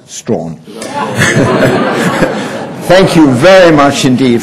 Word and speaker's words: Strachan: people in that area, they pronounce the village, which is spelt Strachan, as Strawn.